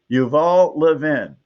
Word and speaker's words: Yuval Levin: Leavven He told me how to pronounce it. I should remember. It was only a few hours ago. Yuval Levin.